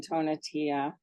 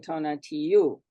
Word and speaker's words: Tonatiuh: land of books by Duncan tonatia or if you are speaking it in Spanish it's Duncan Tona to you so and I found